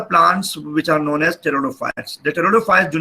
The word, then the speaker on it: pteridophytes: coop near pronounce cannot P is silent a war pronouns Nicaraguan